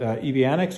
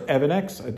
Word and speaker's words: EVANNEX: thank my friends at EB Annex or evinex depending on how you want to pronounce it they sent me this